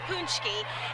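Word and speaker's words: pączki: back home it's called punchy day and so this is how you spell it and it's pronounced punchy and basically on this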